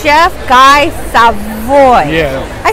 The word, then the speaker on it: Guy Savoy: To be cool, to run my Chef, I know I say your name wrong. It's Chef Guy Savoy.